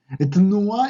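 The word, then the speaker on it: תנועה: Etnua, y ojo que hay que pronunciar la T, pero sin vocal, etnua.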